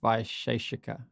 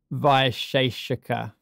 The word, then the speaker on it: Vaisheshika: I think that word's Nyaya Vaisheshika. Okay, yeah, because my pronunciation is going to be terrible of this. That's fine. I just thought I'd get that out. Yeah. So say it again. Vaisheshika.